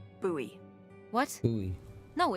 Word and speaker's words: Bowie: out this huge Rusty boy knife it's actually pronounced buoy what buoy no it's like the last name like David Bowie different last name buoy